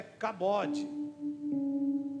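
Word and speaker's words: כבוד: Bom, a glória de Deus, a palavra glória vem de uma palavra hebraica que a sua pronúncia é cabode.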